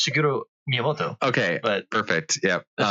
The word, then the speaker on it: Shigeru Miyamoto: You know, you got it almost. It's Shigeru Miyamoto.